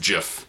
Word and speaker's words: GIF: i said to lou i pronounce it gif i don't care if it's supposed to be pronounced jif doesn't matter to me it looks stupid when you pronounce it jif my brain and my mouth want to say gif and i'm going to